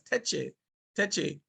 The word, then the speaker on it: Taki: And Taki, which is pronounced by the Akan people as Teche, um, he organized it in that way where each parish would have a sort of chief.